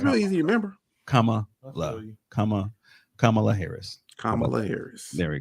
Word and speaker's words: Kamala: I mean, just the comma, just like the punctuation mark. Kamala. It's really easy to remember. Kamala Harris.